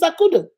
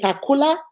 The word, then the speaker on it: Akudo: She will call me Miss Akula. I will call her Miss Wanda. She'll call me Miss Akunta. I will call her Miss Window. She will call me Miss.